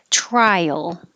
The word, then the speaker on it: trial: and we began with trial so when you say i your tongue has to go high enough try yo then it'll slide down and make a y before your l trial and i see this